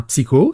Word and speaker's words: Psyho: mon pseudo c'est un ça se prononce avec un K c'est un psycho c'est avec un H